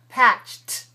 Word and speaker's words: patched: voiced or voiceless voiceless so if this is voiceless then the ed will be voiceless patched patched patched yes he patched a